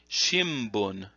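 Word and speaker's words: 新聞: the word for newspaper, you say shimbun, shimbun, and that means newspaper, like a daily newspaper would be the Mainichi Shimbun. And so there they use the m sound.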